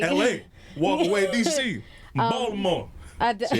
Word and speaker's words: Baltimore: That's not how you say it. Please say it right, because KJ will correct me. I say it wrong. I do Baltimore. No, that's not this. She say the T. Put some respect on the town.